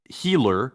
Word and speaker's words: Hiller: 10 super chat from Hiller who says long time viewer but first time supporter from vimsy Estonia my name is pronounced like healer in English just in case you